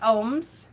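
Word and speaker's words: ogham: is for um ohms the agams which is pronounced ohms uh which is the celtic form of divination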